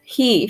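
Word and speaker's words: Hee: your journey, and chant He from the crown chakra to assist the release of joy. He, or H-E-E. He. It's spelled H-E-E, so he, yes.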